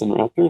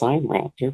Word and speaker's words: Sinraptor: I mean, it is not pronounced Sinraptor, it's pronounced Signraptor because Sino is China.